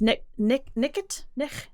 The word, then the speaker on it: night: But then, if you look back at Middle English, the word for night, it used to be pronounced nicht.